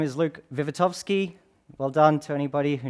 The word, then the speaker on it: Wiwatowski: half an hour um my name is Luke vitovsky well done to anybody who knows to actually pronounce that last name but that's okay um